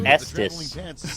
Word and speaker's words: Estes: Like suck these I don't pronounce rockets. it that way. It's Estes.